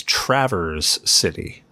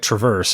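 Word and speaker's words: Traverse City: place called well okay locals refer to it as Travers City but it's spelled Traverse like Traverse Town from Kingdom Hearts so I kept calling it Traverse and I kept seeing like somebody was local there just kind of cringe every time I said it so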